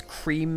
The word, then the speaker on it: Creme: Quick note on that's Creme has been the pronunciation which he's gone by.